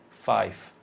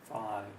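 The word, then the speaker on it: five: Normally they will want to change the V to a B at the beginning, and at the end they will want to change the V to An F. an F, which is you want to be careful. 5. So at the beginning, no B. At the end, no F.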